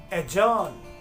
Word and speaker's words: adjourn: Drop करना है और हम इस तरीके के प्रोनाउंसिएशंस का यूज करेंगे: एडजेक्टिव, एडजॉर्न, एडजेसेंट।